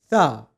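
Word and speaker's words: ث: To pronounce the letter tha correctly, you need to place the tip of your tongue underneath the front two teeth of your upper jaw like this. After it, you'll be saying the sound sa which will give you tha.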